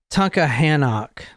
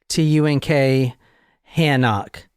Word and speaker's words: Tunkhannock: The township is the Eaton Township, Eaton, but it's in the city of, and I can't pronounce it, I don't even want to try. It's Tunkhannock. T-U-N-K, Hannock.